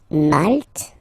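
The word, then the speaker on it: maltais: So here final s not pronounced for the masculine form and then you pronounce it here for the feminine form.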